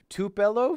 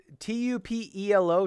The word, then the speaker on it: Tupelo: be okay welcome to the devil's furnace two two pillow to Tupelo why am I doing audiobooks guys I can't pronounce words I don't know what that word is t-u-p-e-l-o Tupelo Tupelo Tupelo Mississippi has long been known